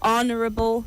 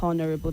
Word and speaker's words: honorable: It is honorable, not honorable. The H is silent.